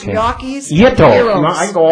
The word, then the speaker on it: gnocchi: They have the pierogies and, was it Italian gnocchi? Am I saying it right? Gnocchi.